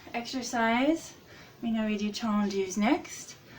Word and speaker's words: tendu: Now our next exercise, we know we do tendus next. So this is the French spelling. Tendu. Almost how it sounds, but they pronounce the E's differently.